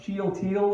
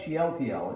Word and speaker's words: Shealtiel: And I'll do some of that because I know it says, I think it's pronounced Shealtiel is who Zerubbabel is the son of, but I like Shealtiel. It just seems to flow better to me.